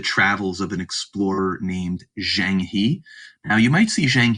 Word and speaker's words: Zheng He: Some people will pronounce it Zhang Ha, and so on, but I'll just be pronouncing it Zhang He because it's more phonetic and it's kind of more closely to what you'll read it as.